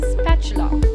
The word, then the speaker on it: spatula: will be pronounced as chew so the correct pronunciation of the word is spatula creator with metal bodies with holes surrounded by